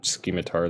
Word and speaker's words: scimitar: Okay, there's a scimitar that I can use. I always say it like scheme. Should just be scimitar.